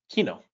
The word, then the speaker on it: Kino: word for movie theater Kino so imagine Keynotes kind of sounds like Rhino Kino rhino not the same sound but this is not